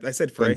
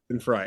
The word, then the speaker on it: Glenn Frey: did I say it wrong? I said Glenn Frey. Fry. Glenn Fry.